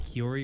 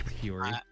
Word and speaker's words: Kiori: You can say Kiori or just Ki. Kiori. Yeah, it's Kiori.